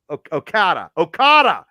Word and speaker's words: Okada: I had it before we started the show and I pronounced it. Kazawa Okada.